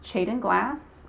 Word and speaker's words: Tjaden-Glass: And if you're wondering how to pronounce my last name, it's Tjaden-Glass, like a CH.